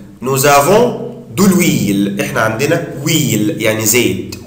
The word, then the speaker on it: huile: احنا عندنا huile يعني زيت. Huile. طبعا هنا الاش مش منطقها.